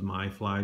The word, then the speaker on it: Mifly: named myth Lee drone its mi f ly you may pronounce that also as my fly drone I'm not sure which which they prefer to be pronounced but that's how I say it myth Lee drone and you